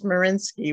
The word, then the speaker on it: Smarinski: It's a tough one, is R, and then my last name is Smarinski, which is S like in Sam, M as